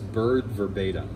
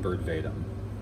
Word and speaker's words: Bird Verbatim: It's Bird Verbatim, not Bird Vadum.